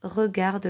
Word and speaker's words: regardent: Les vaches regardent le train. Attention, on ne les prononce pas. On ne dit pas les vaches regardent le train. Surtout pas.